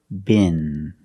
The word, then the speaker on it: bin: So the first word, bin, bin. And the next word is bean, with a long E sound. First, let's practice with bin. Bin. Use the short I sound like this is. It's more open.